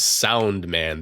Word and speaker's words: Soundman: I almost called him Sandman. He's not Sandman. He's Soundman.